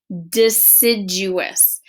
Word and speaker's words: deciduous: called a deciduous tree say that with me deciduous so if we're talking about syllables and we were going to clap that out we'd say deciduous that is how many syllables let's try that again how many times did i clap if you said four you are correct that is a really long word a four syllable word so trees that have